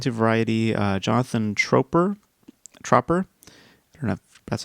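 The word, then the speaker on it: Tropper: According to Variety, uh Jonathan Troper Troper that's how you pronounce his name.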